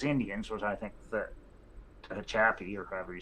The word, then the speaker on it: Tehachapi: So those Indians was, I think, the Tehachapi, or however you say it. That's Tehachapi.